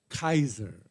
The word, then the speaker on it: Caesar: But they didn't pronounce it Caesar. By the way, the word Caesar in Latin is not Caesar; it is Kaiser. The C is hard.